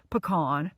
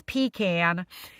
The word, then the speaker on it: pecan: I don't understand the controversy about pasta sauces up here, but I guess it's like equated to pecan, pronounced pecan the right way versus pecan.